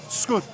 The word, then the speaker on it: Wschód: Wschód.